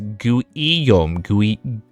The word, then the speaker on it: Guillaume: Guillaume is pronounced as Guillaume. Guillaume. I was thinking of like you know how like Guillermo del Toro, like I was like Guillaume. Okay, so it's Guillaume.